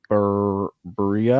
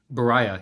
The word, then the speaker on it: Beriah: Seeing you guys do I can't pronounce it, but it's the Book of Berea. Oh, Beriah, yeah.